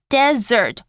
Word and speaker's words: desert: makes a whole difference OK 这里只有一个 S 的 desert 是沙漠哦，所以你们不要把 dessert 拼错，要不然你就说我喜欢吃沙漠 OK 那 dessert 则是两个 S而且你有没有发现发音也不同啊 desert 沙漠 dessert 甜点所以不可能选错吧那 B expert 专家行家这个上下文应该有点怪怪的哦他喜欢吃甜的跟这个